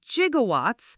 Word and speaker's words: gigawatts: The 1.21 Gigawatts line, Doc actually pronounces it jigawatts because the pronunciation wasn't common back then.